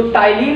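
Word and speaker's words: ptyalin: तो टाइलिन या सेलेब्री एमाइलेज जो एंजाइम होता है, अच्छा यहाँ पी साइलेंट रहता है, तो ये क्या करता है?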